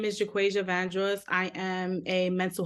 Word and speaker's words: Jaquasia: Jaquasia? It's Jaquasia.